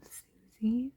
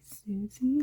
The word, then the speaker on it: SUSY: and he said that he's actually heard it called Susie, so like abbreviated SUSY, and he said he'd only ever heard people say Susie, but it could be pronounced Susie, I guess.